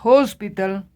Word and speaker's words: hospital: avoy un niño a hospital esté en esta palabra la H no es muda tiene un sonido tiene un sonido de j y por eso es